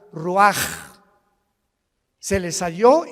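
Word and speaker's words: רוח: Roach así como suena se pronuncia la c en hebreo como J ruaj se les só y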